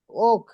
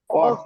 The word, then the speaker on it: walk: আচ্ছা, walk, ওক হাঁটা, ওক হাঁটা, ওয়ার্ক, ওয়ার্ক হাঁটা হাঁটা, ওক ওয়ার্ক, এটা হাঁটা, উচ্চারণ ওক হবে, হ্যাঁ, ওক হাঁটা।